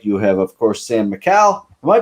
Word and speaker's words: Micale: Micale is what it's supposed to be, I guess.